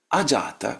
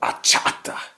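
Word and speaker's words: अजात: And here I sometimes shudder when I hear the Swiss pronouncing this. They look at this, they see the word jata, for instance, jata. Jata means born. Ajata means not born. And then they go ahata.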